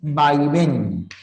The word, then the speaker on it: vaivén: se originó la palabra vaivén No puede haber acento en las primeras tiene que estar al final lleva o no lleva tilde Sí porque es aguda que termine en N y qué ocurre si